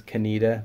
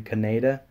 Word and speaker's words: Kaneda: pronounced his name wrong I've always thought his name was Candida but it's actually Kannada I'm pretty sure so yeah